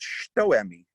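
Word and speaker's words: hitoemi: okay there's this other one over here called shtoemi it's actually spelled hito emmy h-i-t-o-e-m-i but it's pronounced okay and this means basically the front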